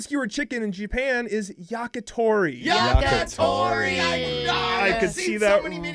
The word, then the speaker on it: yakitori: all the syllables in different orders. No. Grilled skewered chicken in Japan is yakitori.